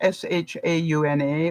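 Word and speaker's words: Seanna: my neighbor's daughter and her name is uh Shauna but it's actually spelled s-e-a-n-n-a not s-h-a-u-n-a or any of the other spellings that I know but s-e-a-n-n-a and pronounced Shauna so you know everybody has their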